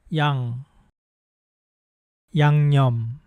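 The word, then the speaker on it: 양념: The first syllable of this word begins with the vowel ya without a consonant sound. So we use that special letter to show that there is no consonant. However, the end of that first syllable has the same final sound as the ng in English.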